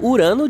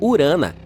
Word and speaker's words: Urano: Bem, bem, estamos chamando Urano de forma errada todo esse tempo. Os astrônomos dizem que deveríamos pronunciá-lo como urana.